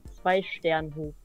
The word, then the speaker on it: Zweisternhof: Nee, ich hab nochmal nachgeguckt, die heißt Zweisternhof. Haben die ganze Zeit falsch ausgesprochen.